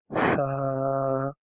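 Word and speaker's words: ث: It is a sa, S sound, S like small. So how to pronunciate it? You have to join the tip of your tongue and the tip of your corner of your upper teeth.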